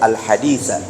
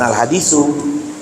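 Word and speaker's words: الحديثَ: Atau dia baca hadis potong, innamal a'malu binniyat, al-hadisa. Bukan al-hadisu, bukan al-hadisi.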